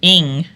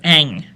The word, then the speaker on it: Eng: If, or Eng. It could be pronounced as ing, like ring or sing, or can also be pronounced as Eng.